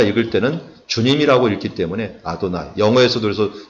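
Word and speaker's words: אדני: 그만큼 이들이 철저하게 하나님의 이름을 거룩하게 여기고 경외하려고 했던 노력했던 것들은 흔적이 여기에 나와 있고, 그냥 우리가 읽을 때는 주님이라고 읽기 때문에 아도나이, 영어에서도 그래서 더 로드라고 표현을 하고 있는 것을 보게 됩니다.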